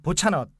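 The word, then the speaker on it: Bocsánat: 그리고 미안하다는 그 보차넛. 보차나. 네. 그리고 천만에요가 좀 발음을 조심해야 되는데 천만에요가 이제 그 시베쉔.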